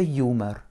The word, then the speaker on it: юмор: Pour écrire humor, je commence par écrire mon U, un M, un O et un R, avec l'accentuation sur le you. Donc le O se prononce comme un petit A.